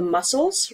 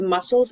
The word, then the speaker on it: muscle: also say that the muscles right the muscles in his back hurt so this is called muscle pain muscle pain listen to this word muscle muscle right it's almost like there's two s's muscle I hate this picture